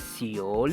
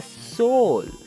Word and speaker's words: Seoul: says come on bro it's not pronounced as ceo it's pronounced the soul okay don't you know it's the capital of